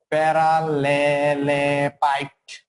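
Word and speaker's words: প্যারালালেপাইপ: এটাকে বলা হয় হচ্ছে প্যারালোপাইট উচ্চারণ ইজ প্যারালালেপাইট ভলিউম অফ প্যারালালেপাইট ঠিক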